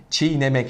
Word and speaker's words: çiğnemek: iyileşme söz konusu yine şirnemek demiyoruz çiğnemek şeklinde telaffuz ediyoruz yine kurallara uymayan bir